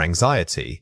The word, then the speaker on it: anxiety: First anxiety. Compare it with emergency. Notice the stress pattern. The placement of the main emphasis completely changes the word. For anxiety, the focus is on the second syllable, while in emergency, it